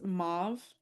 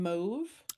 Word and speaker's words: mauve: first person was like, I always pronounced it to rhyme with stove.